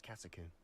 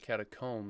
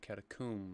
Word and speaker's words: catacomb: I'll be interested to compare what lies inside to what I've read about this catacomb. It's interesting, they don't call it catacomb, they call it catacomb, like tomb.